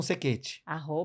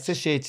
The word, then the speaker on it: Cechetti: Não, pode dizer, Sequete. @Sequete. Sequete com C, tá, gente? Sechete, se escreve Sechete, vocês vão encontrar lá, isso aí lá no... Com 2 T's.